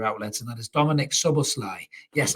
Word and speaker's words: Szoboszlai: and that is Dominic sober Sly yes I'm getting better at pronouncing the name I have checked it out sub or slide that's the name so Dominic's other Sly